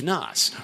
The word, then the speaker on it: Naas: Hashtag Naas rhymes with Biz Naas.